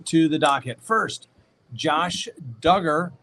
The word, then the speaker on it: Duggar: the docket first josh duggar rhymes with hugger wants to delay his